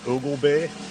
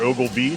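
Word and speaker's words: Oglebay: have a place called Ogle Bay or Ogle be depending how you say it and and what I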